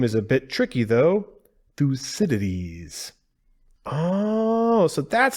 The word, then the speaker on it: Thucydides: facility the name is a bit tricky though Fus cities oh so that's how you say it I